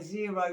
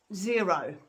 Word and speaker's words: Xero: i then came across zero and that's spelt with an x x e r o and they have a